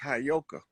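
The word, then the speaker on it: Heyoka: Cuz I'm like I'm I know you that you That word is properly pronounced Hayoka.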